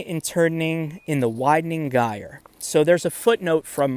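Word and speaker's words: gyre: Um, so turning and turning in the widening gire. So there's a footnote from my text Yates term pronounce in in relation to the word gire. Yates term pronounced with a hard G uh for for a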